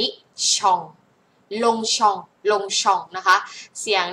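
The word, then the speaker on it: Longchamp: เสียง ออง นะ คะ ก็ กลาย เป็น ตัว เป ไม่ ออก เสียง นะ คะ เงียบ เอา ไว้ ล้ง อัน นี้ ก็ ไม่ ออก เสียง นะ คะ อัน นี้ ไม่ ออก เสียง ลง ชอง ลง ชอง ปารี มัน ไม่ เหมือน กัน นะ ไม่ ใช่ ลอง ลองชอง นะ คะ ไม่ เสียง เดียว กัน อัน นี้ เสียง องง อัน นี้ เสียง ออง ลง ชอง ปาริ ลง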